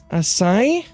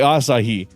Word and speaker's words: Asahi: she's reading it, and she's like, Asai, and I'm like, Asahi, Asai, Asahi. It's spelled A-S-A-H-I.